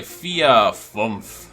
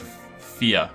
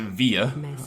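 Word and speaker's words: vier: pronunciation of the word fear because i think it's an f sound and i believe it's spelt with a v as i used to pronounce it via and people regret that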